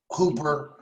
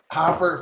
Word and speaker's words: Hopper: to introduce this person, Miss Hooper. Hopper. Come on. How do you say it? Hopper, Felicia.